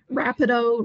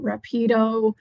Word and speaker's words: Rapido: I will acknowledge whether it's Rapido, Rapido, you hear both pronunciations, both seem to be acceptable, even from ex libris staff, so don't worry about which pronunciation you choose.